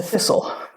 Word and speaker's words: thistle: And I live in Scotland, and the national flower is the thistle. In words like this with a silent T, we never pronounce it.